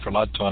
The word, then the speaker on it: Ferlazzo: and will you say your last name for me because I keep saying for loud tone I wanna make sure it's right well I suspected that is actually the accurate Italian from the pronunciation I used for Lazo okay you're being kind